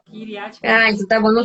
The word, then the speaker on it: Kiryat Gat: Do jeito que lê, fala. Kiryat Gat.